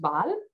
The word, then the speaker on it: bal: lexicon, as for example, the word hair in Romani is pronounced bal, and it is pronounced in similar ways in other Indic languages.